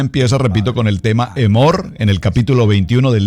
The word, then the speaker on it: Emor: con el tema emor Escríbalo así como como como se pronuncia emor emor que nos traduce